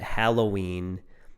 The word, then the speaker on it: Halloween: But if you look at the spelling, it's Hallow, and that of course comes from the word hallow, which in the Lord's Prayer, our Father in heaven, hallowed be your name.